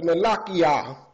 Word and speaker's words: Malachiah: See, they didn't fully reveal to you the name of the Creator, but it's Malachiah. Malachiah. That's how you pronounce it. Malachiah is the true Hebrew pronunciation in the name of this one prophet.